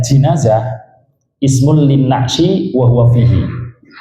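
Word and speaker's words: جنازة: dalam keranda itu oh jenazah terus kemudi kas dibacanya jinazah ismul lin nayi wahua fihi yaitu ya kerandainya itu yang di dalamnya ada mayit kalau enggak ada mayit enggak diundang jenazah.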